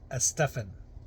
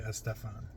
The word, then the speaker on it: Estefan: Uh I remember listening to Casey Kasem and he said it is actually pronounced Estefan. Um but I've always called it Gloria Estefan.